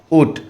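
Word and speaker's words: Août: उसके बाद ऊट, AOUT, ऊट फ्रेंच में उच्चारण है, इंग्लिश में अगस्त बोलते हैं, AUGUST।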